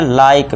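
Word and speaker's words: like: Last में इ है। तो इसे क्या पढ़ेंगे? लाइक। बस यहीं तक इ को हम पढ़ेंगे नहीं।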